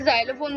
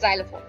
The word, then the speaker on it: xylophone: ठीक है, जाइलोफोन, ठीक है, इसे जाइलोफोन बोलते हैं, तो प्लीज इसे प्रोनाउंस करने में गलती मत कीजिएगा जैसे मैंने पहले करा। सो इट्स जाइलोफोन, ठीक है।